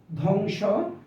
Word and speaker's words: ধ্বংস: স্বর শিকার দ্বাদশ দ্বিতীয় ধ্বংস জ্বর জ্বালা জ্বালানি দ্বিধা এই শব্দ গুলোর প্রত্যেক প্রত্যেকটি শব্দের প্রথম যে বর্ণটি রয়েছে প্রথম বর্ণের সাথে অর্থাৎ শব্দের শুরুতে বফলা রয়েছে কিন্তু কোথাও বফলার উচ্চারণ হয়নি তো বফলার উচ্চারণ হয়নি